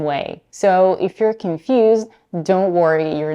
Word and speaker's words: Don: That's why many people pronounce Don and Dawn the same way.